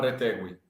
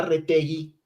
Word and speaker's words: Retegui: juega con selección italiana no lo puedo llamar Retegwi? Porque no se llama Retegwi, se llama Retegui.